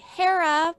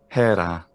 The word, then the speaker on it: Hera: of heaven and zeus's wife i would say hera but hera hey okay so it's close that is that's